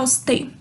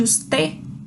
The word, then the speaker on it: usted: A primeira saudação formal que eu tenho, como está usted? Como está usted? Esse D no final de usted, eu não pronuncio, tá?